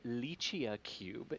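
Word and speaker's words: LICIACube: there there is indeed it's uh it is pronounced uh lychee cube and it is from uh the italian space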